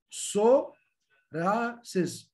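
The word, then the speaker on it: psoriasis: هنا مثلا البي اس تنطق سو راسيس سو راسيس.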